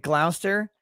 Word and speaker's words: Gloucester: glaster yeah like any it's written glouchester or glauchester shire it's like that and you pronounce it gloucester why don't you pronounce